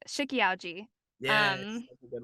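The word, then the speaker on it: Shiki-Ouji: I hope I don't pronounce this wrong. No, I'm not. This is right. Shikiauji.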